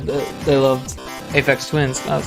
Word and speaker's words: Aphex Twin: with that sometimes because some people mispronounce Aphex Twin as Aphex Twins, which is kind of funny to anyone who's been listening to Aphex Twin this whole time, you know?